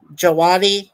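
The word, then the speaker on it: Djawadi: the guy uh Ramin jaadi you know but he spells his last name starting with the letter D which is silent and he did the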